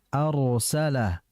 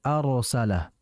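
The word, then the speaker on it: أرسل: Sehingga jangan kita bacanya wa arsala, arsala. Kalau arsala itu salah karena tipis. Harusnya dibaca tebal. Wa arsala, arsala. Hati-hati, arsala. Perhatikan getaran ra-nya dengan ketebalannya. Jadi fokus bagian lidah depan dengan belakang.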